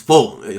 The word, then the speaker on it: Fulton: I love it because you it's not Fulton, it's Fulton. I can't even say it like he does. Cause is that what you gave me a hard time about how I said Fulton? I try and say it like you say it now. I don't even know how I used to say it. He doesn't really have the T in it either.